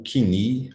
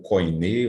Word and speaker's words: Koiné: O Kini, ou Koiné, ou Koiné, existem várias formas de pronunciar. A pronúncia moderna, ou erasmiana, é Kini, significa grego comum, que